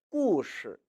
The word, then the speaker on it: 故事: 역시 따로따로 읽으면 故事, 故事 입니다만 매번 이야기할 때마다 故事, 故事 하면은 너무 발음하기 힘들죠. 따라서 자연스레 이것은 이처럼 경성 처리해서 읽게 되는 것입니다.